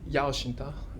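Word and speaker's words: Yau Shing-Tung: so and in particular uh so how to pronounce in usual monitoring but why his name is yao shinta and this geometric analysis is very very important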